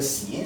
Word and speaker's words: sign: Donc, GN en fin de mot se prononce ne. Nous avons deux exemples. Le verbe signer, donc en anglais on dit sign. Vous voyez, dans la phonétique de ce mot, on n'a pas la présence du G.